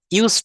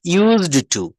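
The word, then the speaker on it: used to: ইউজ টু এর একটা ব্যবহার দেই। দেখেন ইউজ না। কিন্তু এখানে একটা ডবা একটা ডি সাউন্ড আসবে। সেটা কেমন হবে? ইউজড টু ইউজড টু আমাদের প্রোনাউন্সিয়েশনটা খুব সুন্দর করতে হবে।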